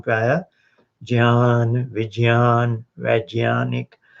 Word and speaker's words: ज्ञान: तो ये थोड़ा विषय परिवर्तन हुआ, लेकिन मैं बताना चाह रहा था कि ये शब्द है जो ज्ञान, इसका सही उच्चारण है जी ज और य, ज्ञान, यज्ञ। इतनी तो हो गई, पर बोलचाल में भारत में आजकल ज्ञान वैज्ञानिक बोलते हैं, ऐसे बोलते हैं।